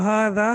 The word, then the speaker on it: هذا: لکھا جاتا ہے، اور اس کا جو تلفظ ہوتا ہے یعنی جو پروننسیشن ہوتی ہے وہ ہاذا ہوتی ہے، یعنی یہ ایسی ہے کہ جیسے ہا کے بعد الف ہو، تو یہ ہوگی ہاذا۔ تو اس کی پروننسیشن